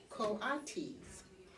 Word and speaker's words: coatis: These are coatis, Miss Brisbane said, reading from the letter, pronounced coatis.